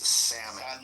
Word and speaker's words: salmon: It's salmon. It definitely doesn't have an L.